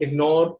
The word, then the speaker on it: ignore: However, when GN are together in the middle of the word, please remember both of them are pronounced very clearly. Ignore, magnificent, Okay, there are also